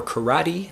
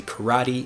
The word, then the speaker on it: karate: thing is true for karate we say karate in English instead of karate in Japanese and also we have